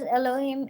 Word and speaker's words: Elohim: थे इब्रानी में एलोहिम, and this was pronounced as Elohim in Hebrew, जिसको इंग्लिश में कहा गया God Almighty, which is in English known as God Almighty.